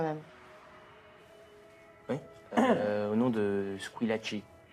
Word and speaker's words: Squillaci: Au nom de Squillaci. Squee? Lachi. Squillaci. Avec un chi, comme ça se prononce.